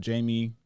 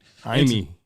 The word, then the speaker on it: Jaime: officers found that 32-year-old Jamie Baldo, that name, y'all see it on the screen. Jaime. Oh yeah, you're right, Jaime. Jamie, I'm so In January. and they don't pronounce the J's.